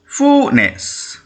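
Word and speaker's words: finesse: এফ আই এন ই এস এস ই অর্থাৎ উচ্চারণ কি হবে ফুনেস এফ ইউ এইচ এন E double S ফুনেস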